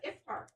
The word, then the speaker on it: iftar: At the iftar.